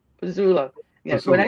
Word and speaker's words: Pezzullo: It's Pezzullo. Pezzullo.